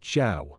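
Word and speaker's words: 曌: This character, pronounced Zhao and written Jia, combined the elements for sun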